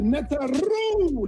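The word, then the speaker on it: Neteru: The Netaru. That's how you say it. I can't do that. Can you do that, Amun? Netaru.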